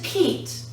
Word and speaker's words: Pete: Consonant, vowel, consonant plus E. Now this is a long E, silent E at the end. This E is now E, long E, and this word changes from pet to Pete.